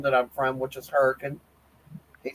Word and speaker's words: Hurricane: It's I if you was going to spell it the way I say it, it's H r a c. Hurricane.